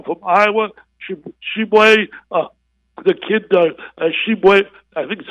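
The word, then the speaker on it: Tshiebwe: Shibwe, the kid, Shibwe, I think that's how you pronounce it. Yeah, Shibwe from West Virginia, tell me, yes. Angelo, how do you pronounce his name? That Shibwe was correct.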